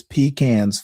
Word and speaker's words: pecan: And no, I don't pronounce them pecans. I pronounce them pecans. The way my daddy, the way my mother, the way my grandparents, their parents, it's pecans, folks.